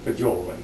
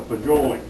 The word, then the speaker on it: fagioli: Now, they may have different pronunciations for that, but I call it fagioli, you know.